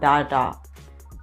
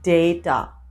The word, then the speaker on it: data: the next one is it's not data it's data yes just as in day day yeah we pronounce this data